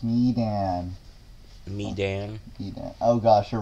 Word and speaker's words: Medan: It's pronounced Medan.